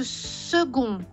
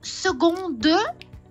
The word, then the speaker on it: second: de cette image attention la prononciation de second on n'entend pas le D parce que si on entend de ça veut dire second de et c'est au féminin au féminin vous comprenez donc si vous dites second plan plan est au masculin si vous prononcez secondde on pense que c'est un mot féminin après et ça n'est pas le cas ça va comprz ça